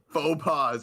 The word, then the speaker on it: faux pas: Faux pas. Okay, that's what I thought. Okay. The S is silent.